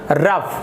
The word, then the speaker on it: rough: तो आप इससे उसका स्पेलिंग याद रखेंगे, ROUGH रफ, यहाँ पर रॉग नहीं पढ़ेंगे। तो यहाँ पर देखिए OUGH जो लिखा है यहाँ पर, ये यहाँ पर आपका दिख रहा है वो फ उच्चारण हो रहा है।